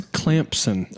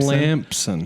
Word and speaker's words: Clemson: It's Clemson. Oh, you Clemson. Clamson. There's no Z and there's no P. It's just Clemson.